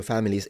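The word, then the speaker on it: famiglie: Either you pronounce it like it's supposed to be which is famili famil. That's how it's supposed to be pronounced. Or you pronounce it in the southern way, which is a Y. Famili with a Y. Or you pronounce it the northern way, which is an L.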